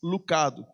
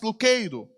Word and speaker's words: Lucado: No Brasil, é convencionado em termos comerciais que o sobrenome do Max seria realmente falado como é escrito, Max Lucado. Mas nos Estados Unidos, a pronúncia correta é Max Lucado.